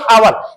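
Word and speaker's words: hour: मेरा चलो आवर, देखो देखो इसको हावर नहीं पढ़ते, इसको क्या पढ़ते मेरा चलो आवर। हम यच को साइलेंट करते हैं यहां से लिखते,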